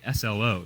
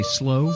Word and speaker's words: SLO: A lot of tourists will say SLO, and that's a real dead giveaway that you're not from the area. Yeah. So the locals say slow? Slow, yeah, Okay. just slow.